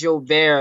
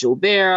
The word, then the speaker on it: Julbert: funny story my friend so my name is yo bear has been extremely hard for a lot of folks to pronounce since it's french uh when i first